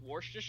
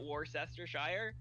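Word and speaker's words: Worcestershire: wherever War sest Shire is it's always been pronounced warer and not war sester Shire like that's how that area has been pronounced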